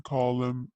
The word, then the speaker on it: column: Use your dictionary and match a picture with a job in column هنا N silent ما ننطقها.